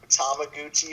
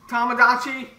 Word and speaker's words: Tamagotchi: Tamaguchi something. Tamagotchi? She said it wrong.